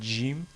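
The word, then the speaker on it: ج: dit que le le le GIM se prononce comme si c'est un G français donc ils disent GIM au lieu de Jim mais parfois c'est encore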